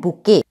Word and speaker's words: bouquet: हैं, उसे कहते हैं बुके. सी the spelling very carefully, BOUQUET. इसमें ये लास्ट टी साइलेंट होता है और इसलिए हम इसको बुके बोलते हैं.